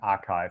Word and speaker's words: arXiv: And the traditional physics preprint server is called, yeah, I don't know how to pronounce it. I think archive, but it's written arxiv.